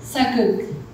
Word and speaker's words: Sageuk: E aí a gente entra no gênero, a professora Hana me ajudou com a pronúncia, Sageuk, que é justamente esse gênero dos K-dramas históricos, voltados para representar narrativas do passado, tanto de Joseon quanto de Goryeo, né?